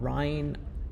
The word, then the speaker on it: Rhein: we're going to be walking along the famous Ryan River on our way to Old Town why